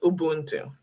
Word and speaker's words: Ubuntu: say it is um pretend that the u's are double o's yeah ubuntu that's how you say it there's probably a